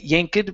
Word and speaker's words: yanked: Um, so right here, instead of yank, okay, the e will sound like a t. It'll sound like a t here. So, so we don't say yanked.